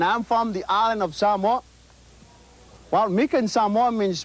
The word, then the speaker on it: Samoa: Most people will say Samoa. The right pronunciation of the word is Samoa. Okay? So it's not Samoa, it's Samoa.